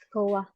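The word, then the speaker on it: スコア: Ang basa na siya is score. Skoa.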